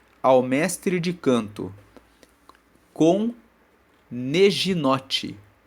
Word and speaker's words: neginote: Na versão da Almeida, as Bíblias dizem assim: ao mestre de canto, com neginote. Neginote. Neginote se escreve N-E-G-I-N-O-T-E.